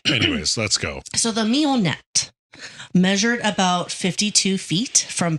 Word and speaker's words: Mignonette: It's like French. Oh, so it's Mignonette. Oh, yeah. Nonette. Mignonette.